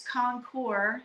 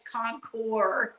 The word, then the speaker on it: Concours: Arizona Concourse very very nice show gentlemen it's Concourse you don't pronounce it oh you're right okay Common Core